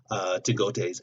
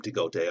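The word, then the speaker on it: T'Gatoi: And he does that by taking Tagote's egg. That's how I pronounce her name, Tagote.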